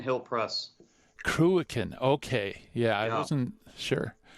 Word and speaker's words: Cruachan: Could you tell me how it's spelled or how it's pronounced? Yeah, Cruachan Hill Press. Cruachan, okay.